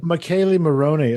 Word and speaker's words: Michele Morrone: Oh, that's not my fault. It's spelled Michelle. Oh, I know exactly. You're not Italian. Michele Morrone.